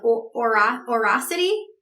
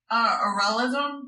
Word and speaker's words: auralism: And I was reading that you use this term, and I'm going to say it wrong, but it's like aurosity? Auralism, which is sound kink.